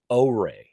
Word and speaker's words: OREI: This is a product from the company Oay. It's spelled O R Ei.